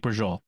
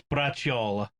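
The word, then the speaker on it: braciola: you would think that it sounds like brazil brazil is like the sicilian virgil is the sicilian-american way of saying it it's brachiola b-r-a-c-i-o-l-a right it's it's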